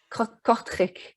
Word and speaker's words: Kortrijk: Well, and you're not just Next, you are, I can't pronounce the name of your theater, I'm afraid. I can try, Schouwburg, Kortrijk.